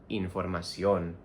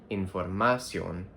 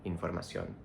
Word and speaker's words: información: Even though in English we say information, we stress the third syllable, we have to stress the O in información, not información like information, información.